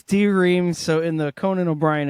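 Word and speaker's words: D:Ream: pronounce it Dream or D-Ream? I think it's D-Ream. So in the Conan O'Brien interview I listened to with him, he said it's spelled D-Ream, but it's pronounced Dream.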